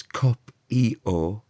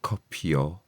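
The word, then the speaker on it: Copïo: Copio, now that's cop-e-o, not copio, cop-e-o, because it's got the double dot above it. It's saying we want you to pronounce the vowel on its own and not turn it into a y sound.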